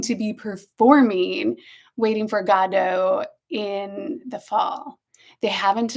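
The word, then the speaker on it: Godot: And then I read that Ian Mckllen said that Samuel Beckett insisted that it be pronounced with the emphasis on God. Godo.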